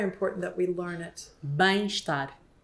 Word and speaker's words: Bem-estar: Bem-estar. Bem-estar.